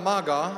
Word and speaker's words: Maga: my compatriot the artist the violin violinist ZTA Maga and you have heard the name rightly it's spelled m a ga a Maga I told